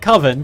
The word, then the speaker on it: Coven: And he doesn't want to call it Coven because Coven sounds like oven.